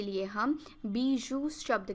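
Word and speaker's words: bijou: बीजू, इसे बीजू की तरह प्रोनाउंस किया जाता है।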